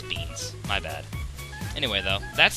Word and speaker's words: Beans: pronunciation of bomb beams I keep calling him greens for some reason but I know it's beans my bad anyway though